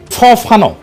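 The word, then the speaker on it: Fanon: ফানো আসল উচ্চারণটা।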